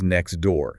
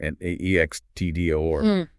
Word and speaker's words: next door: Take the phrase next door, n e x t d o o r.